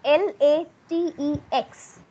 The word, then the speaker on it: LaTeX: of the software i was talking about it is spelled as uh l a t e x x for uh you know x ray l